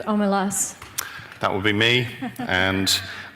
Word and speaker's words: Omelas: Can I correct pronunciation? Of course you can. I think it's Omelas.